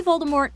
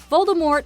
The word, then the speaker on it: Voldemort: Maybe Voldemort evened him out. Number nine, the T is silent. Harry Potter franchise. Voldemort is a name many